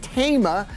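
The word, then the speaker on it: Taima: It's pronounced Tama.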